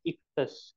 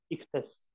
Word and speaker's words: Ichthys: एक ये है इक्तस। इक्तस, ये IXOY, ये बेसिकली IX नहीं है, ये IXOICHTHYS, इक्तस, लेकिन ये लैटिन में लिखा हुआ है इसलिए इसकी स्पेलिंग इसलिए।